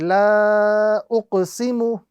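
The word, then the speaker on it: لَا أُقْسِمُ: This indicates to us that the lam must be prolonged to the duration of 2 to 3 seconds. So the correct pronunciation is La uqsimu, La uqsimu, with a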